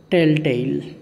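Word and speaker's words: tell-tale: तो चुगली करने को इंग्लिश में कहते हैं टेल टेल। क्या कहेंगे? टेल टेल। ये नीचे हलंत लग रहा है, इसका मतलब इसको हल्के से बोलना, टेल टेल। हल्का सा इसका साउंड आ रहा चाहिए।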